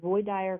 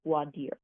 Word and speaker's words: voir dire: we're going to have this process called Roy Dyer questioning or if you're in Louisiana it's called bloody or questioning the same things just pronounced a little differently depending on your jurisdiction that's basically the process